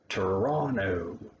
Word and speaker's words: Toronto: the biggest city is toronto there's a first t sound on that one but not the second one toronto um it does affect